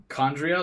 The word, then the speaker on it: Chondria: Chondria, like mitochondria?